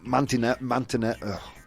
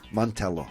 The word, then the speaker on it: Mantello: Joe Mantinet. I'm so bad at pronouncing names. Mantello, thank you.